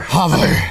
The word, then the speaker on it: HOVR: No, you pronounce it like you're in Kazakhstan, so it's hover.